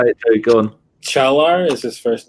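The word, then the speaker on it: Çağlar: We still got to work on your pronunciation of everything. How do you say it, too? Go on. Chalar is his first name.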